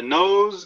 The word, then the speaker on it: nose: one is the nose knows where to go the nose nose it's interesting because in english sometimes two words that sound exactly the same have two different meanings so nose n-o-s-e is